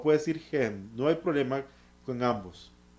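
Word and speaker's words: הֵם: El pronombre ellos, se dice en hebreo hem. Usted puede pronunciarlo em o gem. Em o gem puede pronunciarlo.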